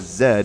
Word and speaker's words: Z: Z said as Zed as Brits pronounce it.